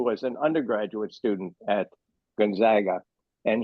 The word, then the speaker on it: Gonzaga: an undergraduate student at Gonzaga, and he is very adamant that the proper pronunciation is Gonzaga. He said it's only the East Coast elites who pronounce it Gonzaga.